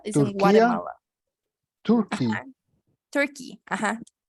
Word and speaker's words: Turkey: Turkey, ajá. Tur, Ajá, con una U. Tur, Turkey. Turkey, Ujú.